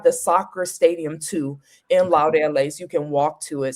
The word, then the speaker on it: Laureles: Okay, Laureles. Okay, like laurels. Okay.